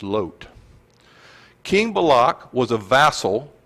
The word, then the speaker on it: Lot: people descended from Abraham's nephew lot or the correct hebrew pronunciation of that is load King Balak was a